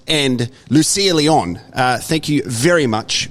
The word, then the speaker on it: Lucía: But technically, because you are Spanish, is it Lucía?